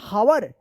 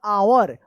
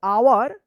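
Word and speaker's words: hour: एच ओ यू आर हवर नहीं यह गलत है। यहां पर जो है ना एच साइलेंट रहता है। इसका उच्चारण होगा आवर एच ओ यू आर आवर before sunrise S यू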